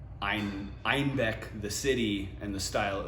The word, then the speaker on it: Einbeck: And so they were pronouncing Einbeck, the city, and the style, like they were calling it the style of beer that named after the city, but they kept calling it Einbock instead of Einbeck.